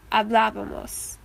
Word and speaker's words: hablábamos: So the correct way to pronounce this word is hablábamos, because the accent is on this A.